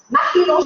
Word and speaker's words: Martineau: Esta familia, que se llama Maginot, yo la voy a pronunciar la boca así como más francés. Maginot es un apellido francés.